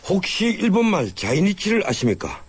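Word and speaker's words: 在日: 예, 혹시 일본말 자이니치를 아십니까? 이 제일교포라고 할 때 제1의 일본 발음이 자이니치인데요. 바로 제일교포들을 일컫는 말로 쓰이고 있습니다.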